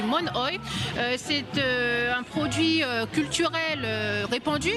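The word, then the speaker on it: monoï: Je viens de l'apprendre, en fait, on le prononce mal. Ici, on le dit monoi, mais c'est du monoi.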